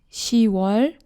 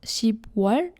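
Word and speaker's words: 시월: July is 7월, 8월, 9월, 10월, not 10월, it's another exception. November is 11월, December is 12월. One more time. 1월, 2월, 3월, 4월, 5월, 6월, 7월, 8월, 9월, 10월, 11월, 12월.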